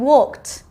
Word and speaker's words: walked: Can you hear that t sound at the end? Walked.